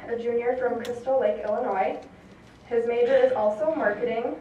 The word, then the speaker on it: Illinois: I am a senior from Crystal Lake, Illinois, and for all you Minnesotans, yes, the S is silent.